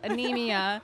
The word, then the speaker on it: Anemia: I want to say it right. Anemia, because I keep looking at it and thinking Anima from Tool. Anemia.